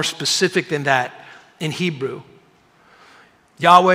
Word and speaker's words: Yahweh: than that in Hebrew Yahweh is more accurate pronunciation of What's called the tetragramaton the tetragramaton that is